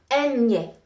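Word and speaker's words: eñe: The N with the little squiggly line, that's called a tilde. Enye. It sounds like the NY in the word canyon.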